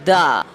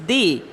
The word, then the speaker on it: the: The thing is, whenever the the is followed by a consonant, it is pronounced as the.